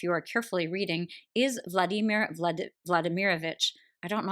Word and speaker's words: Vladimir: character of the name Vladimir. I just said it wrong, Vladimir.